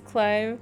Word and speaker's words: Clive: Now we need to pronounce Clive to rhyme with live.